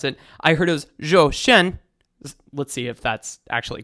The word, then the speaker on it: Zhou Shen: requesting this young man joshen i put this into google translate earlier and uh it's uh i guess it's pronounced joe shen or something like that i i'm so bad at